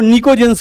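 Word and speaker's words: pnicogens: निकोजेंस जो होता है ये दो वर्ड्स को मिला के बनता है, निको, इसमें पी साइलेंट रहता है, निको प्लस जेंस।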